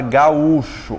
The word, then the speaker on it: gaúcho: O acento não recaiu sobre a segunda. Então fica como, ó? Ga-ú-cho. Recaiu sobre a segunda, portanto se separou.